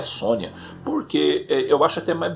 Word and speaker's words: Sonja: sonja ações já que na verdade é a sônia a eu sempre pronuncia e sonja porque tava escrito só então por que que vai ser sônia né porque a outra língua porque lá onde foi criada é assim que falava pois é mas eu